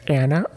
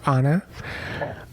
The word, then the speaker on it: Anna: And then we have the ever so timeless Anna or Anna. I tend to say Anna, but actually the first person I met with this name was an Anna, so sometimes I go back and forth with the pronunciation, but I tend to say Anna upon first glance.